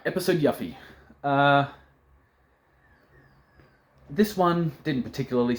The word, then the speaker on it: Yuffie: mispronunciation mispronounced things yuffie if you wanted me to pronounce it yuffie you should have spelled it with one F y-u-f-i-e says yuffie double f is yuff I've been saying yuffie for 25 years get over it um